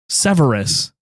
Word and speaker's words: Severus: Severus.